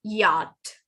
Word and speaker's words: yacht: asthma aduma pseudonym all right uh right right pronunciation yacht it's yacht yacht this one yes come on ah right